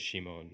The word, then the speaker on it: Shimon: and Moon gate so that's also the how you pronounce Simon in Japanese as Shimon and I thought that